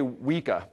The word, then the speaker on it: Weka: New Zealand or Australia here how would you pronounce it sir I can't repeat I mean because he did it right we say WEA okay but it's some kind of a New